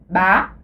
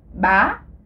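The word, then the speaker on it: bá: Mais si on ajoute l'accent aigu, on le prononce ba, le ton montant. Alors, ba, le ton montant avec l'accent aigu ajouté ici.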